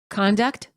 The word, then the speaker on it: conduct: The following pairs of nouns and verbs are spelled the same but pronounced differently because of changing syllable stress. Make sure you reduce the vowel in the unstressed syllable.